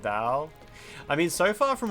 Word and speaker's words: Dao: One thing you feel is wrong in the dub is saying tao instead of dao.